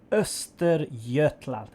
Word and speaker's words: Östergötland: the tier ix swedish or pain european destroyer esther jetlag that's the right word for the name yeah